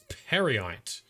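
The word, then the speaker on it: Peryite: with the dedri prince parite dri Prince is probably the cor the correct pronunciation first we're going to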